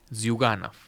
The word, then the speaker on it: Zyuganov: Disculpa, las pronunciaciones, José, me auxiliarás cada dos pasos. Zyuganov. Sí. ¿Cómo? Zyuganov.